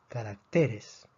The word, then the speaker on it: carácter: necesitan acento estas palabras la palabra carácter tiene tres sílabas carácter termina en consonante y esta consonante no es ni n s por lo tanto predecimos que la fuerza debería estar en la última sílaba pero está en la penúltima sílaba entonces la a necesita